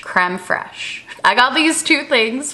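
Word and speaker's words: crème fraîche: and then also this cream freeze nope nope not cream free sierra that's how they say it in south park people have corrected me on this literally every time i've shown it in a vlog creme fresh creme fraiche i got these two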